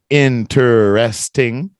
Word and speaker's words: interesting: If you look up the phonetics or the phonics on it, it's going to be interesting, right? 4 syllables. But most people say it how? Interesting. Interesting. They kind of skip the interest.